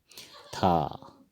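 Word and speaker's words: থ: थ, थ को असमिया में इस तरह लिखते हैं और इसको कहते हैं थो, उच्चारण थो होगा।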